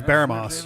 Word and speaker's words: Baramos: Aliahan and Baramos. Or Baramus? I forget which. But be careful with that ball now. Those things go off with an almighty bang. I've always gone with Baramos, but they have pronounced it. They pronounce it in game as Baramos.